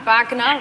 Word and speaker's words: Wagner: right what and second I just want Lou to say Vagner instead of Wagner I know oh that's that's I always say Wagner and he always says to me Vagner well listen listen he's